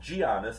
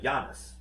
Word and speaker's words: Giannis: why you guys are calling him gianis instead of Giannis yeah because he is now Americanized so we pronounced the g g you you picked